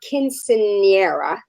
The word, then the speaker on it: quinceañera: All right, we only have a few more minutes in the show, and I want you to talk about your quinceañera. How do you pronounce that?